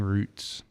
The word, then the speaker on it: routes: their past their racing roots and the spell routes r-o-u-t-e-s but if you're in the where my family's from in australia it's they say it like roots so yeah it works